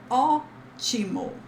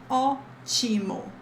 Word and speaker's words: ótimo: you can say tudo ótimo, tudo ótimo. Oh, take a look at this accent mark again in the O. Oh, this is the stress syllable. Tudo ótimo, ótimo, okay?